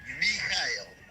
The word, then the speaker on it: Michael: Em alemão, Michael é pronunciado Michael. Conhece um alemão, o neto de alemães que se chama exatamente Michael e se diz Michael.